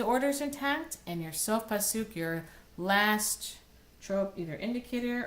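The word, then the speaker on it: Sof Pasuk: As each of these trope symbols actually has a name, if you've noticed, they all have the syllable, their accented syllable on the end. Mercha, tipcha, mercha, Sok Pasuk.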